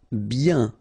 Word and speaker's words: bien: rapide, favori, finale, bien. Okay, so remember, when you get this combination of I, E, N, you get the sound yin, yin, okay, and then B. Bien.